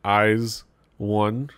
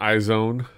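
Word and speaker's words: IZ*ONE: of eyes one yes sir that's how you pronounce it eyes one was the eyes one it's not eyes own they even put the last risk in between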